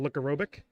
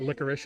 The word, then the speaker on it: Licorobic: Ron Marks, the captain, is talking with co-captain Paul Licorobic. That is how you pronounce the name. It is not licorice, as many people say.